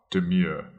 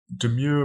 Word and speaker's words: demur: That is spelled D-E-M-U-R, demure.